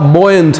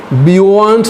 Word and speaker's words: buoyant: इसका मतलब आप बॉयंट हैं, बॉयंट, बियॉन्ट नहीं है, बियॉन्ट नहीं है, फिजिक्स का वर्ड है बॉयंसी, बॉयंट, बॉयंट बोल लीजिए मेरे साथ में, बॉयंट, बॉयंट। स्पेलिंग बड़ी अजीब सी है, BUOYANT, तो BU को हटा दीजिए, O से बोलिए बॉयंट, बॉयंट, बॉयंट, जिंदा दिल, खुश मिजाज, ऑप्टिमिस्टिक।